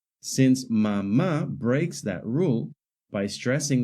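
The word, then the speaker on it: mamá: The word mama, however, also has stress on the last syllable mm, but it ends in a vowel. According to the Spanish stress rules, if a word ends in a vowel n or s, the stress should fall on the second to last syllable.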